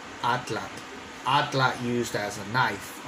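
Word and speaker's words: atlatl: kind of cool, like atlat. Atlat used as a knife, a reference for a knife, right? Well, atlat, in English, they call it atlato, right? Corruption of the Nahuatl.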